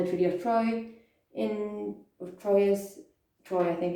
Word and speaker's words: Troyes: france to sign the treaty of troy in troyes troy i think it's pronounced in 1420 and this is agreed it's